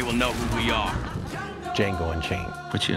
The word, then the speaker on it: Django: Django Unchained. What's your name? Django. D-J-A-N-G-O. The D is silent.